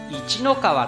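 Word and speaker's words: 一の川: 知りましてえ今後は一の川と発音していくことに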